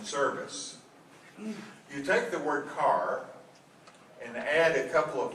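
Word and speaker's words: χαρά: us the Greek word for joy is car it's spelled a little differently than our automobiles it's ch h r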